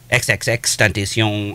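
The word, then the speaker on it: XXXTentacion: pronouncing his name. It's one person's name. It's one person's name. It's XXX Tentation.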